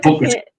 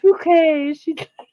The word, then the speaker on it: Bucket: She'd always say my name is Bouquet. Yeah, Hyacinth Bucket.